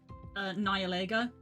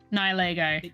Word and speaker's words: Nihilego: To start with is Nihilego. Nihilego.